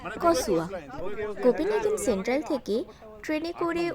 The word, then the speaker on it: Korsør: আর এই জায়গাটার নাম হলো করসর। আসলে এটার ঠিক প্রোনাউন্সিয়েশন হবে কসুয়া।